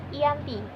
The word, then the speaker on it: Giyanti: nama sebuah desa yaitu Janti jika dalam pelafalan bahasa Belanda di terdengar Yanti namun jika dalam tulisan dibaca Giyanti Hai perjanjian ini dibuat